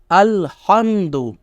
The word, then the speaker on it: الحمد: کے دیکھیے کیا ہے۔ الف لام زبر ال، ہا میم زبر ہم، دال پیش دو، الحمد، لام لام زیر لل،